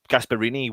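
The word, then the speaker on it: Gasperini: starting eleven how do you think uh gasp gasparini will will have i pronounced that again have i done that wrong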